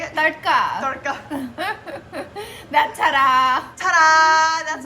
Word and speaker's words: tadka: Tadka.